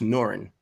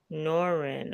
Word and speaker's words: Nor-Yan: It's pronounced Norrin. Norrin.